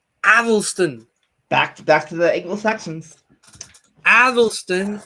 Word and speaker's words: Athelstan: And how you pronounce his name? Athelstan.